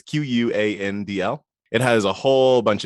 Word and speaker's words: Quandl: One was about NASDAQ Data Link, which is a service previously known as, I'm going to pronounce it Quandl. I always want it to be called Candle, but it's Quandl.